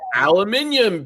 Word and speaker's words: aluminium: So, and if you listen to that video, two of the engineers called it aluminium panels, but what they really mean is aluminum. They just pronounce it in Europe.